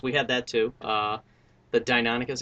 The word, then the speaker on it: Deinonychus: The Deinonychus, is it Deinonychus or Deinonychus? I've heard it pronounced both ways, but we've always had that debate. I think the science is firmly like Deinonychus.